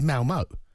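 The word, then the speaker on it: Malmö: They played Malmo. Yeah. I mean, you know. Malmo, not Malmo. They played Malmo. Malmo. You go low for the second part of that syllable.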